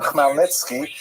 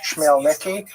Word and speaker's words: Khmelnytsky: when this man, Bogdan Khmelnytsky, sometimes horribly mispronounced Chmielnicki, because that's the Polish spelling with an American pronunciation, but the pronunciation is Khmelnytsky, led an uprising of Ukrainian peasants against their Polish overlords.